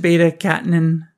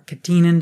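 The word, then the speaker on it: beta-catenin: probably promotes the wind beta-catinine or katinin depending on how you want to pronounce it signaling pathway and the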